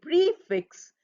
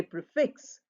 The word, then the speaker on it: prefix: say prefix we we don't say prefix we don't stress that we say prefix and we say suffix the stress falls on the fix this you will learn